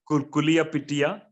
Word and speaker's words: Kuliyapitiya: Jayasekara, consultant psychiatrist, teaching hospital at, I hope I can pronounce that term well, Kuliyapitiya. Yes, you are correct.